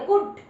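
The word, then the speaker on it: could: पता लग जाए कि यहाँ पर एल साइलेंट है, एल क्या है? साइलेंट है। तो क्या बोलोगे? कुड।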